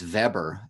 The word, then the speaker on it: Weber: this portrait of Max Weber Weber Weber it looks like Weber but in German it would pronounce Weber he founded the discipline